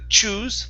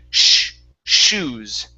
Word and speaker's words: shoes: Give me a good SH sound. So instead of choose with a CH, it's an SH. Shoes.